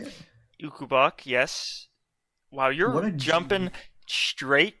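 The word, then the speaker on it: Ukobach: Ukubak, yes.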